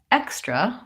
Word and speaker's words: extra: such as an extra so on extra we have first syllable stress and we have the KS sound and on example we